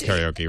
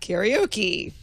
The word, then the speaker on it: karaoke: I think we're not going to get people to pronounce karaoke right. Having been to Japan, I realized, it's not karaoke. It's karaoke.